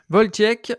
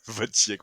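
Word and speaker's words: Wojciech: mood de comment tu voltiek Kilar voltiek ouais c'est ça en fait c'est pareil il faut pas prononcer le J il faut prononcer le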